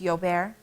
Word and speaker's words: Gilbert: yoar syndrome which is spelled Gilbert but in French it's yoar a sluggish enzyme system